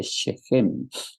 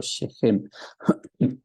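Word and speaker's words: שכם: la ciudad de siquem en el hebreo siquem se lee sheem Así es como se lee en hebreo sheem y siquem lo que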